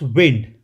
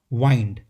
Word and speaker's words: wind: Second, when it comes to weather or air movement, then it's wind. However, when it means turning or spinning or twisting, it's pronounced wind.